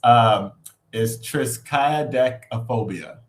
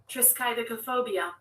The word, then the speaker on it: triskaidekaphobia: But it's triskaidekaphobia. I think that's how you pronounce it.